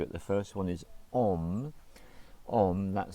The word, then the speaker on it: Om: So this Om is the first sound, followed by shipra, followed by prasadaya, and that's the long one, followed by namaha. So the first one is a single syllable, it's om.